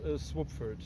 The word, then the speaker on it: Słubfurt: new city body called swoopford taking the first syllable of the town of swabitsa and the second syllable of the town of frankfurt which makes uh swapford and in swapford we